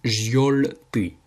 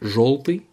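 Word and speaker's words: жёлтый: On a la lettre yo, vous voyez que ça s'écrit желтый. Sauf qu'en fait, après un G, après la lettre G, le yo se prononce O. Comme si c'était un O en fait. C'est pour ça qu'on dit желтый et pas желтый.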